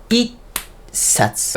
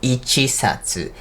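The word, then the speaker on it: 一冊: It-satsu, right? Not ichi-satsu.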